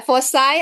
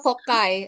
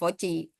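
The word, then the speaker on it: foci: ya jenis teh teh fiai iya fosai atau fokai eh dua-duanya boleh ya fosai Atau fokai eh tapi jangan voci dan kaktus juga sama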